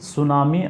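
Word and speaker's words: tsunami: जाता है तो वर्ल्ड सुनामी अवेयरनेस दिवस देखिए आपको सुनामी में आपको टी साइलेंट रहता है पढ़ते हैं इसको सुनामी लेकिन लेकिन आपका लिखाता कैसे है टी एस यू एन ए एम आई ठीक है तो आपको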